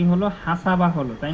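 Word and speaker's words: حَسَبَ: হাসাবা হলো, তাই না? হাসাবা।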